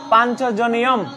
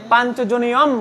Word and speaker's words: পাঞ্চজন্যম: এটাকে পাঞ্চজন্যং বলা যাবে না, এটাকে বলতে হবে পাঞ্চজনিয়ম।